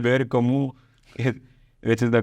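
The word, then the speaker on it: Camus: yeah yeah uh so Albert kamu says H kamu which is the correct pronunciation the French French guy yeah he said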